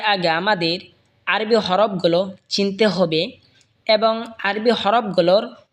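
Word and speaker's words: ح: হা হলকের মধ্যখান হয়তো উচ্চারণ হবে হা।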